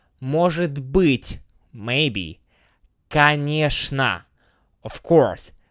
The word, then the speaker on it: Конечно: Конечно, of course, pronounced with a sh sound.